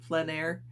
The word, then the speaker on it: plein air: And if you're not sure what plein air is, plein air means, it's spelled P-L-E-I-N because it's a French, and I believe it's actually pronounced plein air.